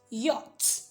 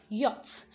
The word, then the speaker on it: yacht: you don't see yeah the ch there is not pronounced so you rather say